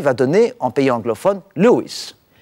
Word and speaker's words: Lewis: donner en pays anglophones luis qui est en réalité la prononciation anglaise de louis et c'est lewis w